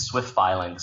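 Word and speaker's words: SwiftFilings: How do you say these? It's Swift Filings.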